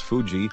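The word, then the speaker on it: 藤: is called Fuji Mon this kanji letter is pronounced as Fuji or told in Japanese if a person's family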